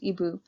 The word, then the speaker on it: Igbo: story of ebu landing that word there igbo is pronounced ebu which was the story